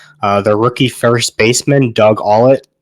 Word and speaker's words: Ault: Their rookie first baseman, Doug Ault, I think it's how it's pronounced, A-U-L-T.